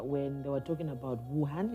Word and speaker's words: Wuhan: they were talking about wuhan is am i saying it right yes china yeah but they know